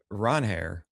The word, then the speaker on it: Ranger: I learned that it's Ronheir. That's right. He did say that. But he did also say that everybody calls him Ranger and he's okay with it.